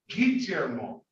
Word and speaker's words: Guillermo: gee the eyes pronounced when it has the u is pronounced like a hard g without it it's like a soft g or j sound so all right very